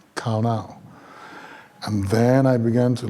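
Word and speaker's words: qana: The Hebrew word that was used for envy was kauna, that is pronounced K-A-W-N-A-W, but spelled Q-A-N-A, kauna.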